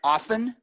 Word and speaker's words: often: after think you mean you mean making the the tea silent yeah like in often oft en yes yes